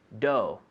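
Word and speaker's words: dough: freedom with pronunciation right d-o-u-g-h do do that's it right so don't try to pronounce all those letters right do yes that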